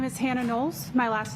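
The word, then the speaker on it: Knowles: Nolles.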